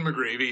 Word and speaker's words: McGreevy: His name is McGreevy. Did I pronounce that right? Yeah, McGreevy, yeah.